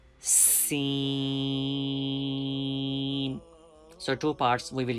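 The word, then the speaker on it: س: Scene. Please don't forget to produce whistle sound in this letter. Whistle sound is very important scene because whistle sound is characteristics of scene.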